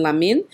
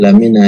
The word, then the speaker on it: Lamina: I want you mentioned a name here, which is Honorable Sir Emerson Lamin. I hope say I pronounce that right, right? I know I make wrong again. Lamina, yes. Lamina. Okay.